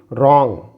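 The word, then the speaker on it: wrong: इसे यदि हम W में साइलेंट मानते हुए आगे प्रोनाउंस करें तो it will be रॉन्ग, रॉन्ग। यहाँ W साइलेंट है तो आंसर, आंसर।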